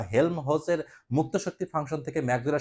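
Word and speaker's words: Helmholtz: এই প্রথম সম্পর্ক প্রশ্ন যদি এমন আসে যে হেল্মহোল্টজের মুক্ত শক্তি থেকে, হেল্মহোল্টজ অথবা কি, অনেকে তো উচ্চারণ ঠিক মতো হয় না, হেল্মহোলটজ, হ্যাঁ, হেল্মহোলটজের মুক্ত শক্তি ফাংশন থেকে, হ্যাঁ, এফ থেকে, মুক্ত শক্তি ফাংশন কি?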